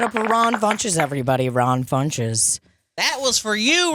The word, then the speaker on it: Funches: Iran bunches everybody Ron funches that was for you Ron punches rhymes with bunches yeah Ron funches Honey